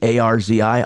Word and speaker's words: Arzi: Arzi, A-R-Z-I, Arzi. That's it. You're pronouncing it exactly right.